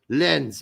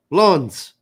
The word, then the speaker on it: Lens: It's pronounced lawns, apparently. Yes, lawns.